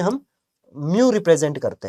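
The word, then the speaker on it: mu: ये जो U है ना, इसको एक्चुअली में हम म्यू रिप्रेजेंट करते हैं, म्यू बोलते हैं, इसकी प्रोनाउंसिएशन है म्यू। क्या बोलते हैं? म्यू।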